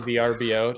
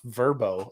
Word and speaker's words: VRBO: have you seen that uh it's pronounced verbo I think I still say VRBO they literally went through the effort of putting out a commercial on National Television of like stop saying VRBO it's verbo and then that was